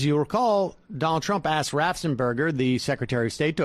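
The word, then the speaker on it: Raffensperger: whoever is functioning as ratzenberger at this point it's rafsenberger but the secretary you said it three times so i had to correct you it's uh of course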